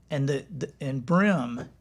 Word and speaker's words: bream: And brim is spelled sometimes B-R-E-A-M.